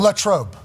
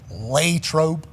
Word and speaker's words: Latrobe: Latrobe.